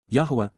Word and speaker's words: Yahowah: Yahowah, Yahowah, the proper pronunciation of the name of Eloah, God as